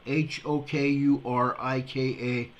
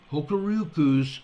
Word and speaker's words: Hokuriku: Hokurika. Let me start over. Hokuriku Electric Power. Hokuriku Electric Power, I believe it's pronounced.